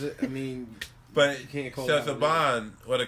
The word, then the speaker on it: Saban: Sinbad. No, his name is Saban. It's Saban. It's pronounced Saban.